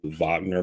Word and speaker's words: Wagner: He's basically the head of this group, Wagner Group. It's spelled Wagner, but they pronounce it Wagner.